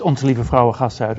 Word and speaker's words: Onze Lieve Vrouwengasthuis: I cannot pronounce, and I'm not even sure that you can pronounce it, Freek. Yes, it's Onze Lieve Vrouwengasthuis, or OLVG.